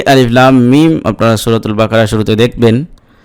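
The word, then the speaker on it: الم: আপনার হরফে হেজার মত মানে আরবি বর্ণমালার যেভাবে উচ্চারণ করতে হয় আলিফ বা তা সা জিম দাল জাল রাজা সিনশিন এরকম অতএব এখানে আলিফ লাম মিম এরকম পড়তে হবে।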